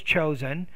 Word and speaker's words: chose: you have choose chose chosen so the past tense is chose and you have to change the pronunciation of the word to differentiate it from its present tense counterpart all right so delivery